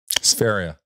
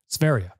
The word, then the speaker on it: Sverige: Sferia. Sveria. It doesn't, you don't pronounce it the way it looks like it should be said.